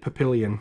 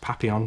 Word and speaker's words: Papillon: watched this together and he always called it Papillion which I which when I found out it was actually pronounced Papillon French for butterfly I thought it was hilarious